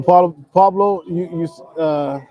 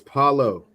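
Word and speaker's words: Paolo: But no, Pablo, I don't know, man. Like Cam, you're acting like that white dude at the Kentucky Derby. It's Paulo Banchero. Paulo. Say it right, man.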